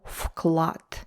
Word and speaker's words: вклад: So her contribution, ее вклад. Вклад, it only sounds like вклад. It's spelled as вклад with V. Вклад.